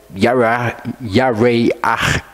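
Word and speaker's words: ירח: People want to go through the references for Yareach is how it's pronounced.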